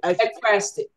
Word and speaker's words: ekphrastic: It's pronounce it again. Ekphrastic.